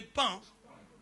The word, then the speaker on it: paon: Les pans. Pan. Les pans, ça s'écrit comment? P-A-N. Ah, ok. Paon, mais ça se dit pan.